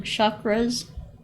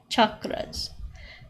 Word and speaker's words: chakras: people call call them chakras with an sh they're actually pronounced ch chakras and basically these are